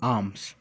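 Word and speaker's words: arms: है कि with open आर्म्स। ठीक है, इसको आर म नहीं पढ़ेंगे, आर यहाँ पर साइलेंट होता।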